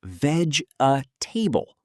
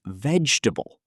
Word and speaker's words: vegetable: Many beginners say veg a table with four sounds, but native speakers usually say vegetable with three sounds.